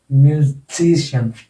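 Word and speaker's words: musician: इसमें जी पर आ जाएगा म्यूजिशियन, म्यूजिशियन, म्यूजिशियन, म्यूजिशियन।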